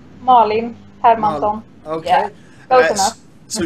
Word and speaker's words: Malin Hermansson: Is it pronounced Malin Hermansson? Malin Hermansson.